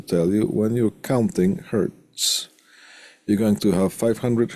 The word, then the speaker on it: Hertz: hers not like that the hurts is the last name so there's one hurts not one hurt as sometimes people have Tendencies to to pronounce now where are we